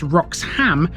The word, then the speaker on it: Roxholm: However, Roxom has been its own parish for a long time. Alternatively spelled and pronounced as Rox Ham, this was mentioned in the Doomsday Book.